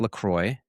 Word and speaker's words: LaCroix: LaCroix, pronounced LaCroix.